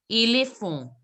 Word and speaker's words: éléphant: Éléphant. Elephant. N sound should not be there. It should be éléphant.